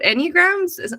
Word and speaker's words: Enneagram: about our photo shoot but to talk about enneagrams am I saying it right the Enneagram yeah